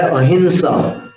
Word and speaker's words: अहिंसा: भले अंग्रेज लोग AHIM ऐसे लिख दे, लेकिन वो है अहिंसा।